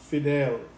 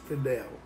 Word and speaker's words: Fidel: You don't have an L where it's Fidel, like you told me. Anyway, that's why I called you Fide, because of that spelling.